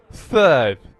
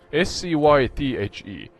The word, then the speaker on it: Scythe: Scythe. Scythe, yeah. S-C... Do you say U? Is it Y? You know, YouTube, Y? T-H-E. S-C-Y-T-H-E.